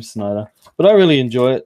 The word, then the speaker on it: Snyder: Snyder, that's how you say his name, Snyder.